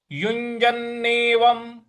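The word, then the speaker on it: युञ्जन्नेवं: श्लोक है युजनेव युजननेवम यहां पर जो य है यू के बाद में उसका यु य इस तरह से बोलना है युजननेवम और व के ऊपर जो अनुस्वार है उसको म के उच्चारण में ले आना है तो ये हो जाएगा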